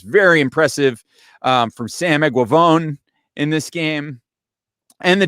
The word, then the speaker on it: Eguavoen: a shout out to sam mcguaven i mean sam excuse me he pronounces it sam eguavon sam eguavon was a